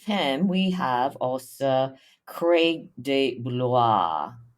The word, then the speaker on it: De Blois: And then with him, we have also Craig de Blois. How do you pronounce that name?